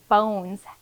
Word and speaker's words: bones: as a detective that the word bones has an E, and that's the silent E that's making the O say O in bones.